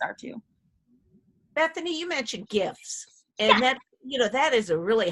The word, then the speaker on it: GIF: I say GIF like Jif peanut butter.